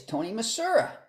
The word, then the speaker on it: Tony Misura: We're very happy to have our guest today is Tony Misura. That's pronounced like St. Louis, Missouri. I believe that's Exactly. Yes, the S is almost like a Z.